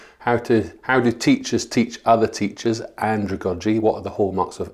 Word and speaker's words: andragogy: I want you to know the word andragogy. And it's spelled, so if you think of Sandra or pedagogy, sandragogy, or andragogy is the word, not Sandra.